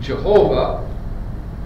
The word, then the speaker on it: Jehovah: One of these ancient documents we refer to as the J document, from the name Jehovah, which was a German spelling pronounced Y, not J.